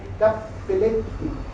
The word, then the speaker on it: Cappelletti: construido por un padre Cappelletti, pronuncio bien para que no me digan nada mis compañeras de italiano, Cappelletti como los Cappelletti, pero todo con doble, Cappelletti.